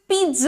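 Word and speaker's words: pizza: moving on this is पिज़्ज़ what you से पिज्जा ठीक है तो पहले पीट बोले फिर ट से लगा हुआ ज बोले पीज्जा ठीक है ओके वल मूविंग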